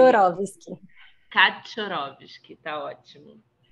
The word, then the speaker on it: Kaczorowski: Como é que se pronuncia? Kaczorowski.